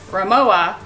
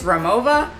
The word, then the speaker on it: Rimowa: new to me brand, Rimowa, or maybe it's Rimowa. I'm not sure how you pronounce it, but I'm actually going to pronounce it with the V sound, kind of like how we say Loewe. So comment below if you know definitively how this is supposed to be pronounced.